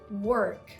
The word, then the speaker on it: work: When you're pronouncing your R in American English, just roll your tongue upwards. Just roll it upwards. For example, the word work.